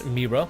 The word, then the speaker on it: Me'era: is on purpose there her name is Meera with the apostrophe between the E so yeah if you could try to maybe roll your r a little bit when you say the name it sounds perfect ma plus it gives